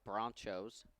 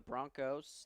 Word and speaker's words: Bronchos: Oklahoma, the Central Oklahoma Bronchos. That is not a mispronunciation. That is correct. They're not the Broncos. They're the Bronchos.